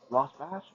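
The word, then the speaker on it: Rosbash: Ross bash uh yeah I think Ross bash is how you pronounce that third one so Jeffrey Michael and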